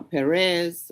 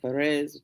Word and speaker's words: Perez: causing to live uh Perez or Ferez depending on you know which uh pronunciation you're using or which translation even you're using and um they are